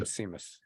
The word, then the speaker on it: Seamus: But I'm calling him Seamus Casey. Yeah. SE is a sh sound for some the highlight